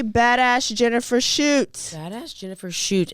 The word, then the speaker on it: Schuett: shoots badass Jennifer shoot and it's not s-h-o-o-t like that's why I tried to Google that's why I didn't spell it for you I know so rude but s-c-h-u-e-t-t is her name she still lives in